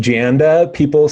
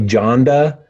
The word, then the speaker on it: Janda: I go with Janda. Some people say Janda. And if you're in South America, they're going to call you Honda because J is an H sound there.